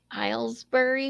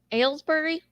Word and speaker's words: Aylesbury: you i'll do it i try to help hilesbury where aylesbury said he pronounced that aylesbury hi sarah oh chinese dinner